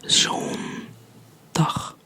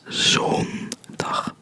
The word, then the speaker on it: zondag: Don't forget to pronounce the N. Zondag.